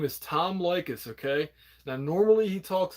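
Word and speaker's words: Leykis: is going to sound his name is tom lycus okay now normally he talks about relationship advice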